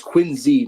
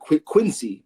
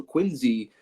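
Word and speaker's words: Quincy: Um and that's it's Quinzy, not Quinzy. People will will pronounce the C, but the the real balln knowers know it's a Z. So Quinzy.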